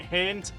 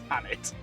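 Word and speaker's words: H'aanit: I was been pronouncing it Haint, but it's Hannit. Quite clearly Hannit as well, the way it's spelled.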